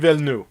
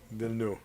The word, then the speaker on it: Villeneuve: Denis Villeneuve.